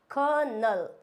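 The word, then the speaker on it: colonel: बिल्कुल गलत होता है इसको कोलोनल नहीं बोलते हैं इसको बोलते हैं कनल इट्स कनल क्या बोलते हैं इसको कनल नॉट कनोल नेक्स्ट वर्ड आता है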